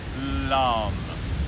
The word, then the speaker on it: LAM: When we talk about using mantra, or sound vibration, to recognize that earth element, the sound is LAM, L-A-M.